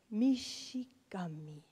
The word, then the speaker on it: Mishigami: Yes, I am quite fond of it as it summarizes my profound essence in a mere four syllables, Mishigami.